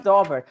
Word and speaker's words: Daubert: It's pronounced Daubert. I'm trying to educate you. It's Daubert.